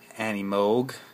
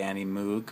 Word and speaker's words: Animoog: should be fine or if you're a stickler for pronunciation Annie mogh I know that's not the popular pronunciation but it is apparently the correct one I've known this for a while but I always choose to say Annie Moog because that's what everybody knows it has so um